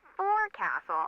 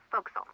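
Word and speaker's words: forecastle: ship, but it's pronounced folks. Why is that? Try pronouncing it like an English sailor with no formal education.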